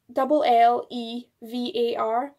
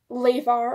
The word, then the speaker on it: llevar: It's spelt LLEVAR. So you would think it would be like levar or something, but double L's come up as a kind of Y sound and V's can come up as like a B sound. So that's how you get llevar instead of levar.